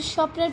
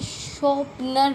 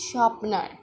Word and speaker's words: sharpener: अच्छा, कुछ लोग होते हैं जो इसे शॉर्पनर बोलते हैं, शॉर्पनर, जिसकी प्रोनाउंसिएशन होती है शार्पनर, और वो बोलते हैं शॉर्पनर, SHOPNER, शॉर्पनर। This word is wrong, this sharpener is wrong. This pronunciation is sharpener.